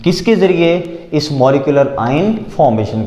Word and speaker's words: molecular: देखें जी बात यह है कि अगर कोई बहुत ज़्यादा इंटेंस टर्मिनोलॉजीज की तरफ जाए ना हम तो इसको पढ़ते हैं मोलेक्यूलर।